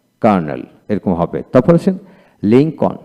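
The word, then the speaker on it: Lincoln: এরকম হবে তারপর আসেন লিংকন লিংকন ব্যক্তির নাম লিংকন এল উচ্চারিত হবে না তারপরে হোম এইচ এ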